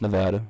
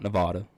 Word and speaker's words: Nevada: the fight capital world las vegas nevada it's pronounced nevada not nevada i'm going to end that and that debate